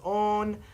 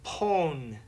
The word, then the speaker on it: pwn: Dear Jeremy, I noticed that in the show you pronounce own as own, but my friends and I say pone.